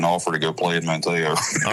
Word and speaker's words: Manteo: It's like Maneo. Manteo. Okay, Don't Manteo. pronounce the T. You. Forget about That's that easy. T. I can tell when I was like Manteo. There we go. Manteo. Forget the T.